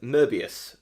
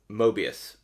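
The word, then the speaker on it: Möbius: girdle's incompleteness theorems uh but I don't hear as much consistency with merbius I think most people would say that Mobius um so that's interesting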